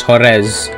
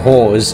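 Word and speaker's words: Juárez: of hores um Gunslinger I know it's spelled KZ because someone who actually knows uh Spanish corrected me on this I actually used to call it call of Jo and actually it's horz or hores as we jokingly said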